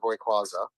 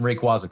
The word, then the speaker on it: Rayquaza: Yeah, I've got uh First off, I want to commend you on your pronunciation of Hayquaza.